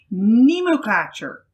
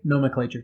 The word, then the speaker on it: nomenclature: been made part of modern Nemo catcher did I say it right nomenclature is the nomenclature so let's get the